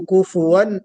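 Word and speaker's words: كفوا: वलम यकुल लहू कुफुवन अहद, कुफवन नहीं, फा के ऊपर सुकून नहीं होगा बल्कि दम्मा होगा।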